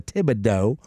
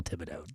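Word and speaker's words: Thibodaux: cun my wife is a miselle and a Tibido which is I don't can you even spell I don't even know how to spell Tibido I do I told you I went to college in Tibido Louisiana that's right how do you spell it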